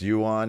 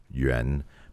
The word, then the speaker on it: Yuan: time uh it's it's yuan in the business but the correct pronunciation is ren but the thing is people can't pronounce that yr combination break out some mandarin